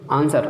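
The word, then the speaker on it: answer: पीछे पड़ चुके आंसर, आंसर में भी जो है डब्ल्यू साइलेंट होता है।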